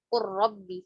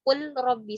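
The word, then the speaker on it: قل رب: Makanya dibacanya diidghamkan nanti ya. Qur rabbi. Karena kan susah. Qul rabbi susah nggak? Susah.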